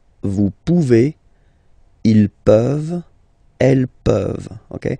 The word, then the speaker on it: pouvez: Then vous pouvez. Okay? Classic ending as well for the vous form. A Z like that. Okay? Remember you pronounce it E. Okay?